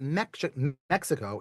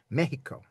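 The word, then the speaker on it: México: Mexico, M-E-X, the letter X in Spanish, generally, some drift on this, generally gets the sh sound. So it's not Mexico, it's Mexico.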